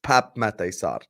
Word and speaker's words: Pape Matar: at this blonde bastard I said it wrong on purpose to piss him off I know it's Pap matar you fraud how about